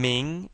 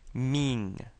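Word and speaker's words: 名: And saying ming is kind of like saying the word meet.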